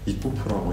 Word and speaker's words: ICUPU: 되었고, 그거를 이제 연결시켜서 그대로 발음을 하면 이코프라고 이제 발음이 되기 때문에 그거로 이제 이름을 정하게 됐습니다.